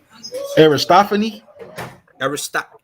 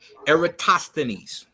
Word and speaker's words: Eratosthenes: Aristophanes? Eratosthenes is how you say his name, right?